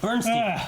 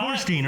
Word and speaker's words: Torstein: Bernstein. Bernstein's not in perfect health. No. Fucking Bernstein. Is that how you say his name? No, it's Toast. It's not Bernstein. Fucking no, it's not. Torstein, right?